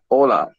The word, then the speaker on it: hola: H in Spanish is a silent letter, which means that you write it, but you do not pronounce it. Nor hear it, as you would do in English and other languages. So the words hola, hello, and hola, sea wave, are pronounced exactly the same.